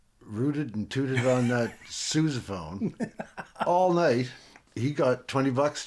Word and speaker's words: sousaphone: Is that how you say it? How do you say it? Sousaphone. Sousaphone, okay. After the man who made all the marching music.